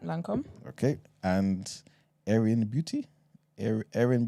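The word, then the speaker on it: Lancôme: So Esther, you're going to have to help me with the pronunciations. Lancome? Yeah, that's right, Lancome.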